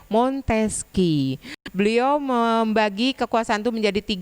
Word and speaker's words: Montesquieu: Tulisannya Montesquieu, tapi dibacanya Montesquieu.